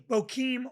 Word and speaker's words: Bokeem: not say his name B Woodbine Bokeem Woodbine bohim Woodbine got Bim bem Bokeem yeah Bokeem Woodbine it was very very good yeah it